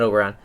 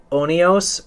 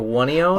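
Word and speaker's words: Oneiros: It's not Oberon. It's like Onios or Wonios.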